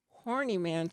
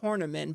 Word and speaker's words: Horneman: hornaman you spell it like a is horny man's my last name but it's pronounced tournament but it's spelled h-o-r-n-e-m-a-n and i will update